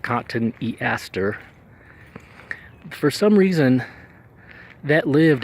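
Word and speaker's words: Cotoneaster: Cotton Easter is how I would pronounce it, but I've heard it pronounced Cotton Easter.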